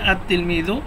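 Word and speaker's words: التلميذ: এজন্য আততিলমিজু লিখার ক্ষেত্রে লাম আসবে। উচ্চারণের ক্ষেত্রে আসবে না। উচ্চারণের ক্ষেত্রে লাম উচ্চারিত হবে না।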